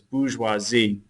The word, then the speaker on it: bourgeoisie: teacher says the bourgeoisie if you want to spell it correctly but it's bourgeoisie they're the up-and-coming middle class and the Third